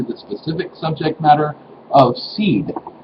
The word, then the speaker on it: seiðr: the top and uh would be pronounced as in width anyway so what is seed or seed craft it